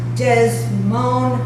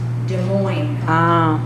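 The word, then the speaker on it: Des Moines: Secondly, you pronounce does moan Iowa incorrectly. It's pronounced de mo French. French de mo.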